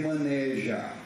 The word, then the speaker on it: maneja: Brasil inteiro evite dizer manejar a pronúncia correta que maneja é fechado A não ser que a